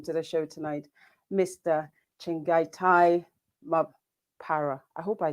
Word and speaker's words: Chengetai: Chengetai is Chengetai is the correct way to pronounce it.